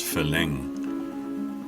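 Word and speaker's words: ฝรั่ง: The heaviest stuff usually involves a farang. Farang is the Thai word for foreigner, which they pronounce phalang.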